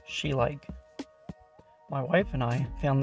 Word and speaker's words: Schleich: like these figurines made by schleich, pronounced schleich.